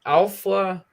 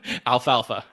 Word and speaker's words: Alfalfa: me with this one is alpha i'm really hoping i uh pronounce that right alfalfa alfalfa yes exactly um okay scott what